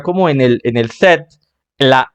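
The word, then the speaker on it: cet: problema simplemente se como se pronuncia hasta la t set pues sonaría set Vale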